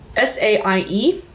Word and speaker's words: Saie: Let's talk about Saie. I believe that's how you pronounce this brand. This is S-A-I-E. Yes, Saie.